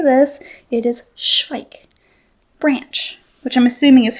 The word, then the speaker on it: Zweig: let me know that it is a German word, and it's Zweig. And I might have butchered that, but I think I got it right. They said pike, but with an S.